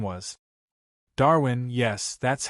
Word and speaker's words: Darwin: Darwin. Yes, that's how it is pronounced.